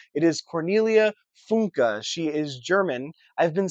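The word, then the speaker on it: Cornelia Funke: Spell by I finally looked up how to pronounce her name. It is Cornelia Funka. She is German. I've been saying funky my entire life. So, like 25 years now I've been saying funky. It is Cornelia Funka.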